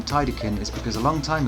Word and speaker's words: Tidecan: Yeah, just to clear up the pronunciation, because I know some people get a little confused, it's Tidecan.